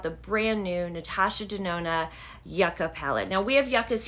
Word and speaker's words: Yucca: it The Yucca palette it is actually pronounced Yucca if it is spelled this way um but I did